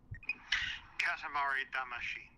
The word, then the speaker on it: Katamari Damacy: Katamari Damacy.